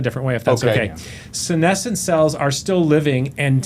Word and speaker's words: senescent: So guys, I really need to understand this senescent cell.